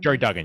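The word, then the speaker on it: Gerry Duggan: with this now like yeah uh is it jerry duggan is that he pronounced his last name jerry duggan yes yeah he he wrote this and excellent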